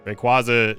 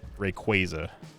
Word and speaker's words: Rayquaza: Rayquaza is that is how you pronounce it. I reject anyone who who calls it Rayquaza because it's just wrong.